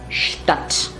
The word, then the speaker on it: Stadt: Now when a word begins with sp or st, the pronunciation becomes shp or sht. So for example, here this word will be Stadt and not Stadt, Stadt.